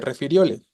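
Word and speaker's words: refirióle: Por su sílaba tónica, ¿qué tipo de palabra es esta de refiriole? Claro, es grave, ¿no? Efectivamente, la tónica es la penúltima, entonces es palabra grave, termina en vocal y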